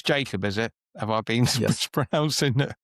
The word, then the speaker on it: Jakob: Okay, so it's Jacob, is it? Have I been mispronouncing? Have I been mispronouncing you all day? In Swedish, it's Jakob. So it's. But I think it's Jacob in it.